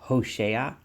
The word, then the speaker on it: Hosea: the book of Hosea I'm going to call him HOSA as he is pronounced in Hebrew HOV shinan and Hosea or HOSA is the